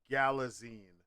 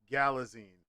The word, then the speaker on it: Galitzine: on on board and his name is pronounced Nicholas Galitzine like magazine Galitzine. He said this himself.